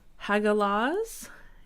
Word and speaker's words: Hagalaz: So the next from that, we have the sky, and this is Hagalaz, and it is spelled H-A-G-A-L-A-Z.